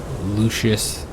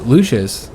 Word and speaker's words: Lucius: the plebs, and then Lucius, which I'm going to call him Lucius for now. I know technically, you know, somebody said that the C is always pronounced with a K sound, you know, with the like Lucius in classical Latin.